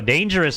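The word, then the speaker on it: Danejerus: that's dangerous Oh shoot no dangerous is doing Alpha Prime is spelled d-a-n-e-j-e-r-u-s uh that's going to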